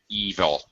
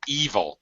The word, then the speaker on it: evil: it's a thank you it's like sheep evil uh okay the the word is devil short e evil long e the long e sound long yeah uh